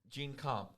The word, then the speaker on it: GenComp: GenComp company. I've been saying it wrong this whole time. Oh, It's actually GenComp.